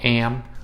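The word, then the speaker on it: em: vietnamese all right so the word am is pronounced i the closest thing i can think of is like the the canadian word for a you know like some canadians say at the end of a word and you just would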